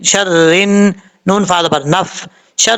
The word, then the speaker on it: شَرِّ: کے پڑھا دیتا ہوں، شین را زبر شر، را نون زیر رن، شر رن، نون فا زبر نف،